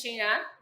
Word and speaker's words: Xin: to introduce myself so my name is she the X in my name pronounced like s so I'm the founder